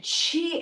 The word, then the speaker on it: qi: The first thing you have to know about is that chi energy is what the big deal is. QI. Who spell it with a Q? It's pronounced chi.